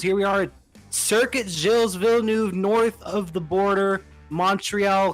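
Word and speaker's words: Gilles Villeneuve: in left-hand turns here we are at circuit jill's villeneuve north of the border montreal canada and i'm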